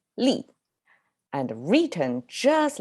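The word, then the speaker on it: 立: here we go the first character chinese li pronounces li and written just like that this is the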